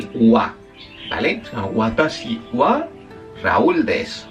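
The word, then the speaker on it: は: ver dentro un rato también es el wa. Vale, se llama Watashiwa Raúdes, watasiwa senseides. Ese wa en japonés se escribe con la el giriragana ja y no.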